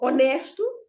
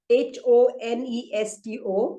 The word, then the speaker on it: honesto: Honesto. Honesto means honest. Again, in English also, it has got no sound. Sorry? Okay. So, honesto, again, has got no sound. It is written with a H-O-N-E-S-T-O, honesto, but it has no sound at all,